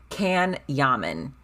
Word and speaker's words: Can Yaman: It's spelled like can, as in like a can of Pepsi. Can Yaman, all A's.